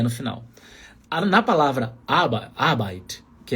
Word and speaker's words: Arbeit: Sílaba tônica está no começo. Está na letra A aí. No alemão padrão, você não precisa puxar o R. Não é Arbeit.